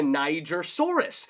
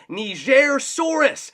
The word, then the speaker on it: Nigersaurus: Just like in the past, we've always talked about how to pronunciate dinosaur names. Now, I always used to call this one the Nigersaurus.